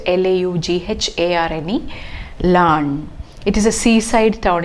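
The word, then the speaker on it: Laugharne: and finally they settled in the place called lan it's pronounced as learned but it's pronoun it is spelt l-a-u-g-h-a-r-n-e land it is a seaside town in wales and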